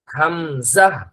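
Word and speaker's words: همزة: মনে করেন যে ওই যে জ ঝ হ্যা ঝাড়ু লিখতে যেই ঝ সেই ঝ এর উচ্চারণটা হবে হামজাহ হামজাহ হামজাহ জাহ না জাহ জাহ হামজাহ হামজাহ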